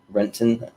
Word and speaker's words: Renton: far outside of seattle renton that's how you say it but um yeah and